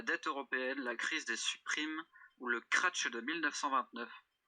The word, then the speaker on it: subprime: La crise des supprimes. Crise des supprimes. Supprime, ça s'écrit comme supprime, quoi. Oui. Subprime. Normalement, sub prime. SUB, prime.